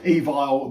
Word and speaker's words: Evile: spoke to him and he told me let's say you pronounce it so there you go evil the unknown this is